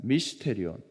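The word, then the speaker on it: μυστήριον: 미스테리온이라는 단어를 쓰고 있습니다 미스테리온 미스테리온 미스테리온 여러분 많이 들어본듯한 발음과 비슷할 겁니다 그죠 신비 비밀이라는 뜻을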